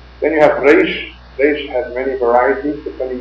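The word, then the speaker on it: ריש: But in Arabic, in Farsi, and in the Latin language, except for French, the R is pronounced as Lashon HaKodesh Reish was, Reish.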